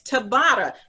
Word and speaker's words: Tabata: what is that you're saying what what it's tabata it's spelled uh t-a-b-a-t-a and it's a form of